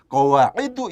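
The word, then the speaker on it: قواعدُ: Bacanya itu memang tidak boleh qawaidun, tidak boleh, harus qawaidu.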